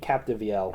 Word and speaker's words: Capdeville: co-writer Dave C uh capdeville is that how you pronounce it I well I don't know let me see let's let's find out how to pronounce his name I don't think that's da Capel Dave Capel okay thank you Google I assume yes so